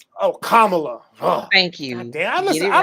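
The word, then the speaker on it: Kamala: know what I'm saying he's lying stop pause pronounce her name oh kamla thank you damn listen I don't I butcher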